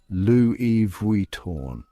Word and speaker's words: Louis Vuitton: So next time you're admiring those iconic handbags or luggage, remember, it's Louis Vuitton.